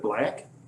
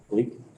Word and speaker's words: Bleak: How do we pronounce that last name? Is that Black? Bleak. Great. Pardon? It's bleak. Bleak, thank you.